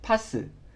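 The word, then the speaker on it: PaaS: 여기 이제 IaaS라고 적혀 있는데 이걸 이제 보통 이아스라고 읽고 그 다음에 파스, 그 다음에 사스라고 읽습니다.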